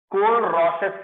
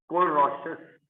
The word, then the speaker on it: Kohlrausch: ठीक है, molar conductivity, and इसको अच्छे से एक्सप्लेन करता है KOHLRAUS, कोल-रॉसेस लॉ। कोहल लिखा हुआ है पर एच साइलेंट है, RAUSCH, कोल-रॉसेस लॉ।